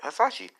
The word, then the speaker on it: Hasashi: a sassy assault damn i am hanzo hassai she yeah i said it right hasashi uh dick is like